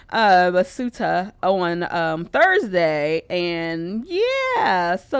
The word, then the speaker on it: Ceuta: I looked up how to pronounce the word because I was saying it wrong earlier. But Ceuta on Thursday.